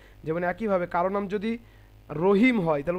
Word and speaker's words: রহিম: রয়ের একটি কায়দা হচ্ছে যে রয়ের পূর্বে যদি জাবার অথবা পেশ থাকে তাহলে রকে মোটা করে উচ্চারণ করতে হয়।